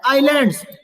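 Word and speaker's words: island: उनको कहा गया है आइलैंड इसको एस को मत बोलिए एस साइलेंट है केवल बोलेंगे आइंस ठीक है नेक्स्ट पढ़ेंगे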